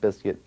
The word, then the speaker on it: Bizkit: them that much uh originally it was always pronounced Limp Biscuit I believe but originally